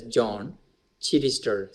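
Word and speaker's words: Joan Chittister: American uh Nun Sister Benedictine her name is John chirister j-o-n it is pronounced as John chirister C H I Double T i s t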